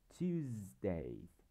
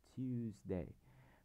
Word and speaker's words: Tuesday: Đây, âm chữ S này, chúng ta sẽ đọc là z, Tuesday, Tuesday.